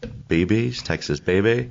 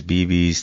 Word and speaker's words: Bebe's: Texas Baby? Yeah, so the original pronunciation will be Texas Baby Quesobirria, but we go off Texas Bebe's, Texas Bebe's, anything that comes out is usually, we're good with it, right?